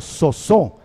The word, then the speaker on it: sozo: Y entiéndelo, salvación en griego se escribe como sozo, S-O-Z-O, sozo, y no significa única y exclusivamente que no vamos a ir al cielo.